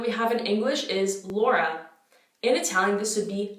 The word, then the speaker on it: Laura: me know so again it's not laura each vowel is pronounced individually so we have laura laura i'm just going to